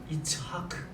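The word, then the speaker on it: יצחק: 이츠하크. 이것이 이삭의 발음이에요. 이삭의 이름이 히브리어로는 이츠하크입니다.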